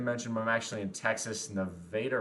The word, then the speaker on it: Nevada: through quite a few times and yes it's pronounced Nevada Texas just like El Dorado you missed my